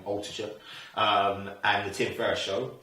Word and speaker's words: Altucher: One is the Jamie Altucher show, and the other one is, and I always struggle to pronounce his name, and he does his last name, Altucher, and the Tim Ferriss show.